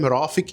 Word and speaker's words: Rafique: Rafik is R A F I Q U E.